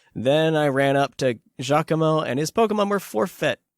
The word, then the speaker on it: Giacomo: I never know how to pronounce that. Giacomo. It's Giacomo.